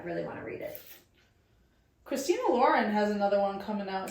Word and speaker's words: Christina Lauren: Okay, no, because I started reading them 15 years ago, and I thought it was one person, and it was pronounced Christina Lauren. Yeah, like Ralph Lauren.